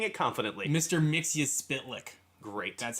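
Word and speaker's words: Mxyzptlk: we did this Supergirl I'll do the phonetic pronunciation it's mix his spit lick wonderful if you want to just hey hey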